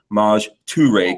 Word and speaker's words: Maj Toure: He just taught me how to say Maj Toure, because that's the right way to say it, right?